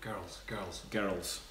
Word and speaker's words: girls: Girls. You can't really say it. Girls is supposed to be one syllable, but Scottish people say it with two.